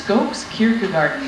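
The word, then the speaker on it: Skogskyrkogården: What is the Skogskirkegarden? Can we get a ruling from that on our Judge Kari? Well, Alex, it's Skokes Kierkegaarden.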